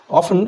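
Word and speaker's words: often: একটা বিষয় মনে রাখবে, অফেন আমরা উচ্চারণ করে থাকি বটে, অরিজিনাল যে ব্রিটিশ প্রনাউন্সিয়েশন সেটা হচ্ছে অফটেন।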